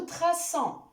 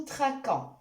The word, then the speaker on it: traçons: Exemple, nous plaçons, nous traçons. Vous voyez, si j'enlève la cédille à la lettre C, je vais prononcer le verbe comme suit. Nous plaquons, nous traquons.